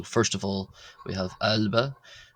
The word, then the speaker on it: ⲁⲗⲫⲁ: So first of all we have albba which is like the a in the English word father something similar to that h.